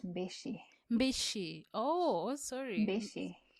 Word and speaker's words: Mbichi: one boy with me is your second name vichy it's pronounced bishi bishi oh oh sorry bishi welcome to the podcast